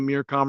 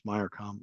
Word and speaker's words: Mircom: Um you may have seen the Mircom report in the last couple years. Last three years we have it's actually my I always say it wrong. It's mycom.